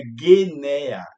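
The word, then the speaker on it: γενεά: A palavra usada nos Evangelhos para a geração é Gueneia, cuja pronúncia é Guenea.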